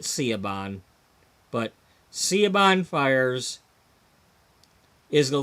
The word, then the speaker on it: Siobhan: Now, some people pronounce her name Shobin. Shaban, you know, I pronounce it Siobhan, but Siobhan Fires is